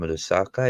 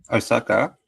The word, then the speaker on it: Osaka: She was from Lusaka, if I'm saying it right. Osaka.